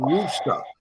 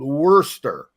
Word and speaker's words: Worcester: And we got a rental car and we were going to a place called Worcester, Oh Massachusetts.